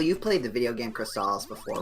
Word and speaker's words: Crystalis: I mean, Crystalis. Okay. So, Like they say in the commercial. There was a TV commercial for this game, and that's how they pronounced it.